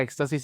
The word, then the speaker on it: éxtasis: a ver de entrada la palabra Éxtasis es una palabra esdrújula que siempre debe llevar acento y como es esdrújula pues va a tener el acento en la antepenúltima sílaba o sea en el caso de Éxtasis el acento tiene que estar en x Okay no debe ir